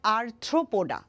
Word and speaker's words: আর্থ্রোপোডা: সো আরথ্রোপ উচ্চারণটা কিন্তু হবে আরথ্রোপোডা।